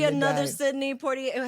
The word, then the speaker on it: Poitier: Sidney Poitier. How do you say his name? Poitier?